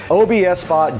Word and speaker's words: OBSBot: But today, OBSBot, now I did pronounce that incorrectly in the last video. It's OBSOT. I was calling it OBS. It is not. It's three separate letters when you pronounce it. OBSBot did send us their new Tiny Light 3.